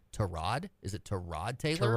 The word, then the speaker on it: Tyrod: Is it Tyrod Taylor? Tyrod.